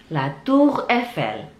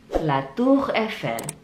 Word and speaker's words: La Tour Eiffel: Itulah 10 tempat di kota Paris dan bagaimana cara bacanya. Saya ulangi satu-satu ya. La Tour Eiffel, la Tour Eiffel, la Tour Eiffel, les Champs-Élysées, les Champs-Élysées, les